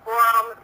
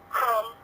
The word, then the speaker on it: Qom: Cuom, sino que es Com, y se pronuncia como más gutural en la lengua de ellos, porque Cuom significa ombligo, ¿no?